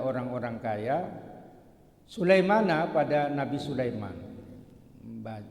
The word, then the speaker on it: Sulaiman: kaya sulaimana pada nabi Sulaiman bacanya Sulaiman bukan Siman ya IBN dauda bin Daud orang Medan kalau manggil Sulaiman Siman alaihalam seperti berfirman Allah